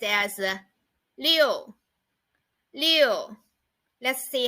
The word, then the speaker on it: 六: It is pronounced as 六.